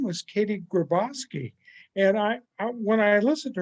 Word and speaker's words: Griboski: It's Griboski. Griboski.